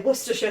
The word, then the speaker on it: Worcestershire: Oh my god, I've never seen more fun than Kieran's American cousins trying to say Worcestershire sauce. What Worcestershire? To be fair, it is spelled like Worcestershire.